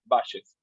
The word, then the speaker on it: Bayes: take what is called base analysis base analysis in Spanish base is pronounced bashes b-a-y-e-s based analysis the